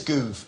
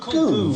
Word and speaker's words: Gove: It's Goove, as in movement. It's pronounced Goove. It's pronounced Gove.